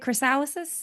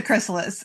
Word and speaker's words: chrysalis: Crysalysis. It we need to it just it's a chrysalis.